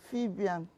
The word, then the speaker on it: Fabian: My name is Fabian. Okay, Fabian. Fabian and not Fabian. Fabian. Okay, Fabian.